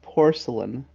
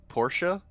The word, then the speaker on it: Portia: uh I I thought that her name was porcelain as in like yeah we we've made comments on this before her name is very similar to porcelain yeah um I thought it was Porsche like the car it is well it's pronounced